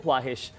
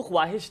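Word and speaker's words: خواہش: हमें अदा करने चाहिए जैसे एक लफ्ज है जो हम बार-बार बोलते हैं ख्वाहिश वो ख्वाहिश नहीं है वो खवाहिश है वो ख्वाब नहीं है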